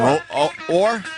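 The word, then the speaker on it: Oher: Or? Yeah. Silent H? No, or.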